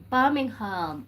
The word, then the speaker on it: Birmingham: Birmingham. That's how you say it. Birmingham.